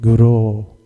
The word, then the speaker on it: guru: mispronouncing the refrain, Vande Guru, Sri Charanara Vrinda. This Guru, not Guru. Prabhupada told him, Go means cow, and the spiritual master is not a cow.